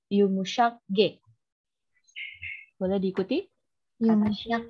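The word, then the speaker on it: yumuşak ge: G yang pakai tanduk itu dibacanya Yumushak G.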